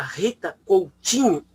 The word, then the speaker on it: Rita Coutinho: A nossa convidada, a companheira Rita Coutinho, assim que se pronuncia, é graduada em Ciências Sociais pela Universidade